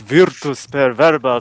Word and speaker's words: Virtus Per Verba: latest game, which is Vertis Per Verba first-person shooter. Did I pronounce that correctly? Yeah, that's about right. Unless we're going to go Latin on your ass and go, it's Virtus Per Verba, but whatever.